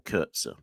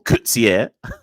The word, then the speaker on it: Coetzee: Anyways, Kurtzer or Coetzee. No, it is Coetzee because Hazeman just said Coetzee. I'm going to say Coetzee from now on.